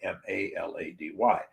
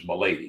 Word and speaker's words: Malady: my real last name was milady m-a-l-a-d-y and hardly anybody ever pronounces m'lady it's malady and melody about that's amazing stupid